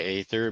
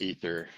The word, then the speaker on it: Aether: your name right I I actually go by Aether but it's technically pronounced ether well we're gonna go